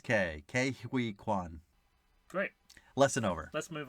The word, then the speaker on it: Ke Huy Quan: Well, I'm so used to saying Ki, but I guess it's Ke Huy Quan.